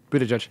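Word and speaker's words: Buttigieg: do okay how do you say his name Peter judge there you go nailed it way to go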